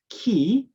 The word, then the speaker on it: ki: philosophy is ki energy it is pronounced as ki in japanese and pronounced as chi in chinese right you know i